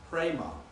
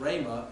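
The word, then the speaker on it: ῥῆμα: And for example, the word Rama, Rho, Eta, Mu, Alpha is pronounced Prema. Prema. It's not Rama, it's Prema.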